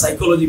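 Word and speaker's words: psychology: তারপরের স্লাইডে আমরা দেখেছি পি এবং এস যদি একসাথে থাকে আর যদি এই পি এর পূর্বে কোনো ভাওয়েল না থাকে, পি এর আগে যদি কোনো ভাওয়েল সাউন্ড না থাকে তাহলে পি এর উচ্চারণটা সাইলেন্ট হয়ে যায়।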